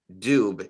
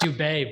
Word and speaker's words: Dube: pronounce it Rob well it actually isn't but my it it takes me back to my high school years people loved calling me dub and dubie but it's pronounced dubet but no worries absolutely du